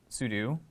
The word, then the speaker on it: sudo: So, you pronounce sudo as sudo.